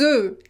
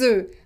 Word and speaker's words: œufs: un œuf, it's des œufs, des œufs. Un bœuf, des bœufs, des bœufs. So you pronounce it e. Why that? Because we don't pronounce the final consonant here for the plural.